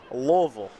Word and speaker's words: Louisville: that's not it sight of the grand Pricks loville there you go been a minute been a